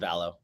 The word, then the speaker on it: Vallo: Is it Vallo? It's Vallo, yeah. But do you pronounce it a different way? No, I pronounce it Vallo.